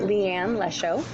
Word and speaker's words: Leigh Ann Lesho: full name the way that you like to pronounce it. Leigh Ann Lesho.